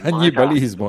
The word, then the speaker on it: cannibalismo: Cannibalismo voleva dire? Cannibalismo. Cannibalismo, esatto. Ecco, mi sembrava che l'accento fosse al posto sbagliato.